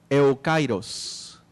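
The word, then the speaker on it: εὔκαιρος: En griego, la palabra oportunidad se pronuncia eukairos.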